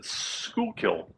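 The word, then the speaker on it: Schuylkill: across the delaware uh looks like you pronounce it schoolkill river and what kind of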